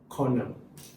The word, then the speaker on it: colonel: And then you also don't pronounce the L.